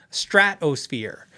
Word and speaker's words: Stratosphere: brand they're Fender from Stratosphere uh it's phonetically correct it's s-t-r-a-t Strat and then it's O fear Stratosphere with an s in there just trust me Google